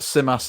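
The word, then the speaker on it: Tzimas: Because you were giving some praise to your new Greek striker, who I can't pronounce his name. Could you help me out? Simas.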